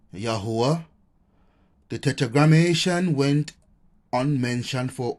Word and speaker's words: Yah: in modern Hebrew where the Y is pronounced e with the vow he being pronounced a created which we have captured as yah right the construct of